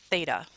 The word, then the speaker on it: theta: Usually when the angle is missing, we use this open circle with a line through it, and it's pronounced theta.